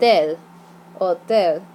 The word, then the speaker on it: hotel: la farmacia no accents their hotel is spelled the same but you don't see that H so it's an old el hotel Church is la iglesia